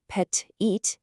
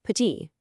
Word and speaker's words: petit: It's there in the spelling, but it's silent. So, a word like Paris isn't Paris, it's Paris. The word petit isn't petit, it's just petit.